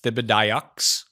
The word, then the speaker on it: Thibodeaux: And Lawrence I believe that's pronounced Thibodeaux.